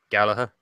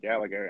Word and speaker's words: Gallagher: it just me or can Americans not pronounce Jack Gallagher's name Gallaher its Gallagher he's well ago it